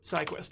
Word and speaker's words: SyQuest: when I eject it see guest or syquest how did you pronounce it I always pronounced SciQuest got a hold on right on that yep syquest drives little platters of hard